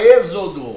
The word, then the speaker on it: êxodo: A palavra êxodo, outra palavra trissílaba, ó. Êxodo, 3 sílabas. Não é a última, não é a penúltima. É aqui, ó. Eita, antepenúltima.